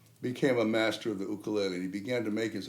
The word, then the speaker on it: ukulele: then got the name ukulele pronounced correctly ukulele apologies to everyone for